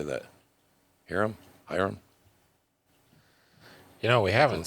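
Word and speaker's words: Ahiram: Hyram.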